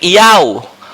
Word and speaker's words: Iau: In addition to a phonetic resemblance between Koine Greek Iau, Romanized Iau, Yahweh names as used by Hellenized Jew. Tuh Iau, tadi yang disebut Herdi cuma salah pronunciation-nya ya. Jadi Iau.